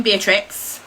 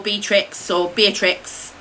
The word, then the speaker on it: Beatrix: I love the name Beatrix, or Beatrix, depending on how you say it, and I say it both ways, it varies.